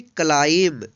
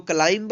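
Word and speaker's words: climb: सी एल आई एम बी, इसको पढ़ेंगे क्लाइम। इसको क्लाइंब नहीं पढ़ेंगे, क्लाइंब मीन्स होता है चढ़ना, क्योंकि यहाँ पे जो है एम के बाद जो है बी है, इसलिए यहाँ पे बी अनुच्चरित है, यानी साइलेंट है।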